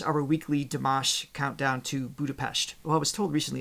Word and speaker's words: Budapest: weekly deash countdown to Budapest well I was told recently it's budapes not pest so it's got the sh sound mixed in oh interesting we